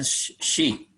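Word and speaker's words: し: Kemudian shi.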